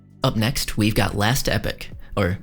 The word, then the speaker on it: Epoch: in Early Access up next we've got last epic or Epoch as they pronounce it in the game an imp impressive